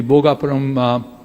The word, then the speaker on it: Bhogapuram: And precisely what SAP or the Seletar Aerospark has done, we can do the same thing in the Bhogapuram Aerotropolis, that's how it's rightly pronounced.